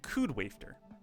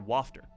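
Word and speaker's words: Kud Wafter: Rewrite, Canon, Little Busters, Planetarian, The Day I Became a God, Air, Clanad, and Koodwafter, or Wafter, is probably more accurate in how you pronounce that.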